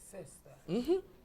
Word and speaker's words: sister: Stress là, the stress falls on the first syllable. Ou dit sister. Sister.